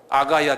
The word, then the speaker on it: 아가야: 아가야 지방 한번 발음해 보세요. 아가야 아가야 엄마야 그 아가야 엄마야 하는 아가야 지방이에요.